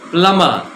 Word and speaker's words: plumber: নিয়ে আসছে না, plumber, there's no b in the pronunciation, my dear friends. Please pronounce it as plumber.